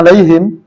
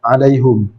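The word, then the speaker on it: عليهم: perbedaan misalnya ketikaai ya kita bacanya alaihim tapi di antara mereka ada yang membaca alaihum alaium nah ini ee kurang kurang sesuai ya dengan kaidah dari ilmu nahu ya nah jadi ee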